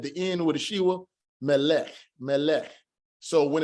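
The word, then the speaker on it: מלך: We have lamed sagal, melech, melech, melech. It made a closed syllable because this shiwa is not going to be pronounced. We have the final form kaf at the end with the shiwa, melech, melech.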